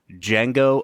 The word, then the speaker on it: Django: at the 2012 film Django Unchained the D is silent the D is silent